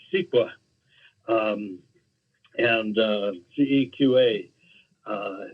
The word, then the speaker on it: CEQA: California Environmental Quality act most people uh pronounce it siqua um and uh ceqa